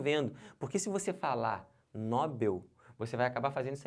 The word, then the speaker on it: Nobel: isso aqui está errado o certo não é Nobel o certo é Nobel aqui ó como é